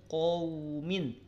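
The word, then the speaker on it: قومٍ: Yang saya soroti adalah pelafalannya. Tidak min qaumin. Qaumin, kelihatan? Qaumin. Qaumin, tapi min qa. Ko, lihat bibirnya monyong tidak saat ngucapin ko. Min ko, tidak kan? Tidak min ko, awas, itu kelebihan.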